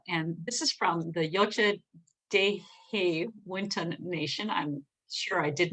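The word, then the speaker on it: Yocha Dehe Wintun Nation: Yocha Dehe Winton Nation.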